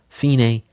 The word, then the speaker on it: fine: I know it's spelled f i n e which we normally say fine. We're going to say it differently in music again because it's Italian. We're going to say fine is the end.